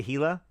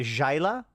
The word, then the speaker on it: Gila: Did I say Gila? It's the Jaila. Pronounced as in Jaif.